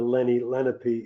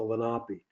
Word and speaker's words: Lenape: the Delaware Indians and it's not the Lenny lenpy it's the lopi uh there are five